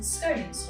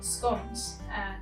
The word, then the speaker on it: scone: So we are going to be making some scones or scones, depending on where you're from as to how you pronounce it.